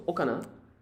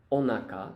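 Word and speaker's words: お腹: So okana, onaka actually, is stomach.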